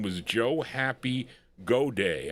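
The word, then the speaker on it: Goday: name was Joe Happy God Day I think this is how you pronounce this G O D A Y and the song was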